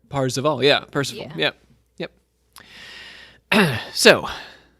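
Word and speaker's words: Perceval: between the lines here is that like the french pronunciation of percival from yeah king arthur parseval yeah percival yep yep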